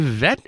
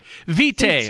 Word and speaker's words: Vete: never pronounce anything right well if you smelled it right we would pronounce it right well you know the e could have been silent actually I'm married to an